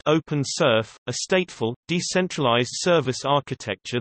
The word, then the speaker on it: OpenSRF: Evergreen also features the Open Scalable Request Framework (OpenSRF), pronounced OpenSRF, a stateful, decentralized service architecture that allows developers to create applications for Evergreen with a minimum of knowledge of its structure.